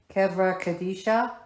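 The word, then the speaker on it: chevra kadisha: would make up the kevra kadisha thank you because I butcher that women I have no shame at least I'd rather you say it right and here it is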